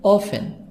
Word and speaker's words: often: Often, T silent, modern and American modern.